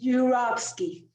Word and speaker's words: Yurovsky: another do you want to take another try pronouncing my last name should we yes yurovsky boom beautiful thank you so much no thank